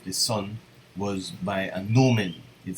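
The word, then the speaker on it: gnomon: the tracking of the Sun was by a Newman it spelled G and om en but it's pronounced Newman and it's basically just a stick and the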